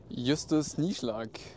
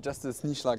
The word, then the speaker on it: Justus Nieschlag: Justus Nieschlag in German. Yeah, I know it's hard, but Justus Nieschlag is also fine. You don't mind when people pronounce the J? No, I don't mind. That's fine. But it would never happen in Germany.